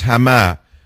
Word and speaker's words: Hama: was it ham hams how do you say it in Arabic the city that he killed 40,000 AR um Muslims in I think it's hamah hamama I always mix it up right it's hamah he killed yes he